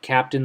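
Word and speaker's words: Kapten: This is a Capten, K-A-P-T-E-N, but it's pronounced like captain, like the captain of a ship.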